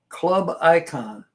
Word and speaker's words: Klubikon: The channel that posted it, this is a short, is Club Icon, but it's not spelled with a C, it's spelled with a K. It's KLUBIKON. Clubicon.